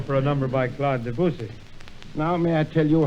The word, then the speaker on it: Debussy: It is not Debussy, but How then? Debussy. Debussy, how's that?